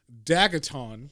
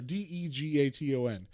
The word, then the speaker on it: Degaton: His name is Dagaton, right? That's how you say it? Yeah, a Dagaton or Dagaton. I'm not sure. Yeah, Dagaton. Sorry, Degaton.